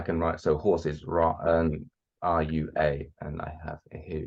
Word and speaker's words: rua: I can write, so horse is Ra, RUA, and I have here number 3.